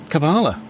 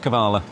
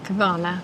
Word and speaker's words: Kavala: It's called uh Chatau Specialty Coffee in the middle of uh Cabala. Kabala Kavala. That's what she said. Is that what she said? Kabala. Pronounced Kavala. Yeah, Kavala.